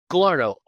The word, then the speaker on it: Galarneau: how do you say your last name Gallo and I've heard it pronounced every which way.